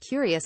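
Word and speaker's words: Cureus: of all things TurboTax the courious Journal of medical science that's pronounced curious is the brainchild of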